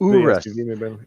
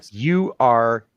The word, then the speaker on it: Urus: It's Urus. Yeah. That's spelled URUS.